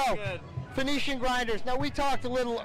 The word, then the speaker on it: Phoenician Grinders: at that colt hey col we're talking about phonetically get it for me cuz I'm going to mess it up Phoenician Grinders there you go Phan see I would have